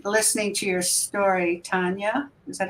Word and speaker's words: Tania: and to me T listening to your story Tanya is that how you say it yeah it